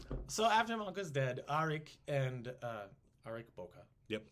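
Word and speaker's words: Ariq Böke: after my uncle's dead aric and uh Eric Boca yep he's called Boca or arik kind of interchangeably but it's Eric Boca and Kublai almost immediately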